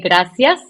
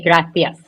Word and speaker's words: gracias: it no because well in my country I'm from Latin America so we say gracias and then people from Spain say gracias ah so I won't